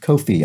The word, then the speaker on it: Ko-fi: watching on the coffee website that it's actually pronounced kofi i think just sort of odd because it's